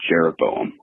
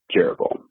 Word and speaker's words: Jeroboam: So in my growing up in church, we referred to Rehoboam and Jeroboam.